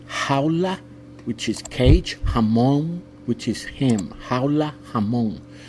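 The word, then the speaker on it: jamón: American people to pronounce letter J sounds like an H Howa which is cage hamon which is him haa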